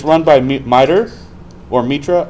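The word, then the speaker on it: MITRE: it's run by or Metra I don't know what the correct pronunciation is um merer okay it is merer um and cve should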